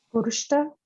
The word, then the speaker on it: vârstă: Can you pronounce this? Vârstă.